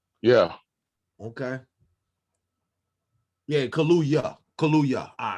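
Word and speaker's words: Kaluuya: cool i'd take you daniel uh kahlua like the drink yeah okay yeah kaluya kaluya all right at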